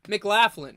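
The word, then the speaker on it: McLaughlin: still one vote okay M MC Laughlin mlin that's how you say it mlin where's mlin from let's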